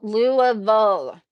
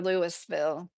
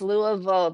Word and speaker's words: Louisville: Louisville. It's not Louisville or Louisville. It's Louisville. The trick I think a lot of people don't get to say the vowel at the end.